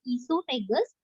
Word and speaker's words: esophagus: In there, mouth, pharynx, sorry here, esophagus spelling, O is missed out, O is silent over there, so we call it as esophagus.